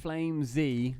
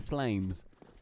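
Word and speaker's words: FlameZ: it's Flame Z instead of Flames.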